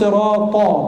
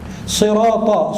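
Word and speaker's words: صراط: Ihdinas sirata, bukan as-sirata. Ta tebal, bukan ta. Ihdinas sirata al-mustaqim, aqqa, kaf dan qaf hampir berdekatan. Aqqa, akka. Al-mustaqim. Sirata, sodnya bukan sin. Sad, ini bicara Hafiz an Asim, qiraat kita.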